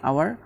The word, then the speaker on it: hour: উচ্চারণটা আসলে হাওয়ার না, এই শব্দের উচ্চারণটা হচ্ছে গিয়ে আওয়ার, মানে এইচ লেটারটা তার মানে হচ্ছে এইচ লেটারটা ভাওয়েলের মতো উচ্চারিত হচ্ছে, আর সেজন্য এখানে আমরা এর পরিবর্তে এন ব্যবহার করেছি।